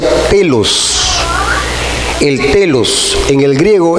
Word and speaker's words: telos: La palabra para fin es una palabra griega que se llama o que se pronuncia telos.